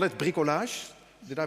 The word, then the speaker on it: bricolage: could call this as a French call it bricolage did I pronounce this right P it's bricolage so so do it yourself if nobody else